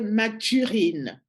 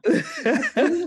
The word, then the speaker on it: Mathurine: dame, Oui, en elle fait, est son nom c'était Mathurine. Mathurine, voilà. Mais nous, on l'appelait grand-mère Matourine. Matourine, elle n'arrivait pas à prononcer Mathurine, il disait Matourine.